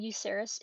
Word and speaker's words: Yuserys: But this is their character Yuserys (pronounced like You-sehr-iss) and Yuserys is a tiefling bard.